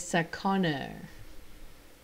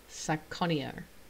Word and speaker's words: Sakana: next one so okay so this one is Sakana Sakana oh okay Sakuni er I think it's how I pronounced it this one is mentioned in passing